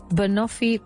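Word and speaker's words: banoffee: And last, Bonafi pie.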